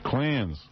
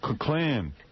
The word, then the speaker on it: Klan: The clans. The Klan. Now, why should he say it right? Maybe he's goofing on him. Yeah, maybe he just refuses to say the name correctly. The Klan. The Klan. That's how John says it.